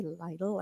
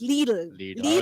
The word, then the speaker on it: Lidl: So, and or you guys say lidle, I think, but it's little and ali.